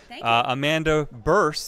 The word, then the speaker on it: Bearse: of my favorite actresses Amanda burst that is how you pronounce it that is how you